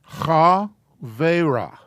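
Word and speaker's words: חברה: So that's spelled or pronounced, transliterated, cha, ve. Is that too crowded? Is that okay? Okay. Cha, ve, ra.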